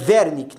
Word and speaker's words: Wernicke: linguagem EA área de wernicke né provavelmente alemão né o w é não geralmente possui pronunciar ver né então verme que tá